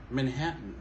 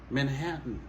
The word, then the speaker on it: Manhattan: en monde c'est Manathan Manathan dit la vraie prononciation c'est Manhattan Manhattan donc si vous habitez New York toujours t